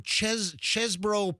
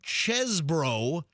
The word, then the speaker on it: Chesebrough: Because that became Chesbro Ponds.